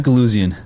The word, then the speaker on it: Guluzian: Guluzian. Guluzian, yeah. Guluzian, so it's a hard G.